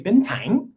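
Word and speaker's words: Bến Thành: Okay, let's get into Ben Bentan. Ben. All right. Or they like to say bentang. Okay. Ben. And so that's how they say it here.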